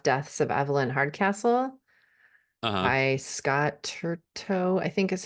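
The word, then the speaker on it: Turton: and a half deaths of avelyn Hardcastle I Scott turto I think is how you pronounce his last name um yeah fabulous that's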